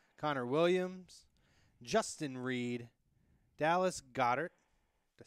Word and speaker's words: Goedert: With the 32nd pick in the 2018 NFL Draft, the Philadelphia Eagles select Darius Geis, Connor Williams, Justin Reed, Dallas Goedert.